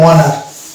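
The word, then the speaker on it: honour: তাহলে সেই জায়গাটাতে আমরা এইচ কে বাদ দিয়ে উচ্চারণ করবো। অনুরূপভাবে এটা হয়ে যাবে ওয়ানার, এটা যেমন হবে আওয়ার, এটা হবে অনেস্ট, আর এটা হচ্ছে ওয়ানার।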